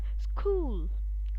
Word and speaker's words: school: Alright, once again rock, once again back, and again when C and H they come together, then also it comes like k. Alright, so let's do that. School, let's do that once again.